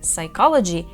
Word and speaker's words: psychology: і сподіваюсь ви почули що в слові psychology P Silent вона не вимовляється дуже часто люди хочуть